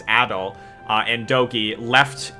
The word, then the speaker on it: Adol: after um a uh adult sorry we learned the pronunciation it's adol uh and doki left